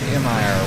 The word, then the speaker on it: mir: No, it's spelled M-I-R, which in Russian is mir for peace. I mean, the word for peace is mir.